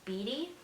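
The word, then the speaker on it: Beaty: by Caitlyn I believe her last name is pronounced as Biddy but she is the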